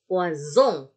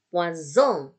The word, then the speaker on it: poison: S di tengah-tengah kata tadi ada 2 dibaca S, kalau ada 1 dibaca Z. Jadi poisson, poisson, ikan, poison, poison, racun.